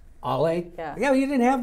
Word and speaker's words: Ale: So how are we pronouncing A-L-E? Really, Jerry? No, well, you didn't have it. You should have put a phonetic in there. Ollie.